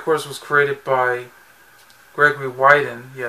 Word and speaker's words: Widen: the story of course was created by gregory wyden yeah it's pronounced white and not win i know yeah